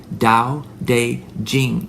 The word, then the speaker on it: Tao Te Ching: It's pronounced Tao Te Ching, even though it starts with a T, T, C, and has a T and a T and a C.